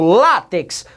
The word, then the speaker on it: látex: nossa análise latex latex eu falo atex não falo eu falo látex o assento está na segunda de trás para frente é portanto também uma palavra paroxítona última primeira de trás